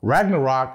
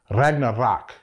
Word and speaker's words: Ragnarok: of the Gods also Ragnarok is not pronounced that way it's pronounced Ragnarok you got to roll those ARS I'm going to unbox